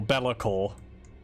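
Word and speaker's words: Be'lakor: Or Belakor. The proper pronunciation, but I'm stubborn.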